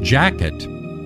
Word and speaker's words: Jacquet: During his many years in Coshocton, the beloved Father Jacquet, pronounced Jacket by the native Ohioans, cared for five missions: St.